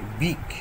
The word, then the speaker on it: beak: আগের দিন দেখো আমরা এরকম উচ্চারণ করেছিলাম HEEP হিপ, তারপরে BEEP বিপ, উচ্চারণগুলো সেগুলো ডবল ই দিয়ে উচ্চারণ হয়েছিল, তবু আমাদের দীর্ঘিকারের মতো উচ্চারণ হয়েছিল বিপ। এখানে বিই এ কে, তবু এটা বিক, এইটা একটু মনে রাখবে, বিই এ কে, বিক।